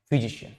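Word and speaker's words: physician: बड़े वाले शॉ का काम कर रहा है, फिजिशियन। तो सी कभी भी अगर आई और ए के साथ आता है तो वो शॉ का प्रोनाउंसिएशन देता है।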